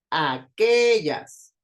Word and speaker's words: aquellas: Aquellas, aquellas. Suena más fuerte la sílaba de en medio. Que, aquellas. Entonces, que sería la sílaba tónica y a y jazz serían las sílabas átonas.